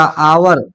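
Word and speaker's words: hour: वहीं देखिएगा आवर, एच ओ यू आर, आवर, आवर, एच भले दिख रहा है लेकिन आका वर आवर एच साइलेंट हो जाएगा, आकर और आवर, तो क्या हो गया?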